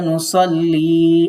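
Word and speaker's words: نصلي: এই যে ইয়াটা দেখতে পাচ্ছেন, ইয়া মানে হচ্ছে আমার, যে ওয়ালাকা নুসাল্লি আপনার জন্যই আমার সালাত, আমার নামাজ।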